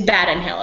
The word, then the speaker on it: Badham Hill: It's Badham Hill. Okay, just making sure, because I wasn't sure. I mean, I want to say like Brandon Hill, but I know that's not how it's spelled.